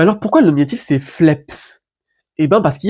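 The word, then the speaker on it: φλέψ: Un jour, lointain dans la langue, ça s'est prononcé phlebs. Sauf que la labiale voisée, donc c'est-à-dire sonore du b, avec le sigma, c'est dur à prononcer. Surtout beaucoup de fois. Phlebs, phlebs, phlebs. Et au bout d'un moment, la labiale sonore, en fait, c'est assourdi, est devenue sourde. Et la labiale sourde, c'est un P.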